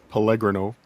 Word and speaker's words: Pellegrino: Pellegrino is how it's pronounced.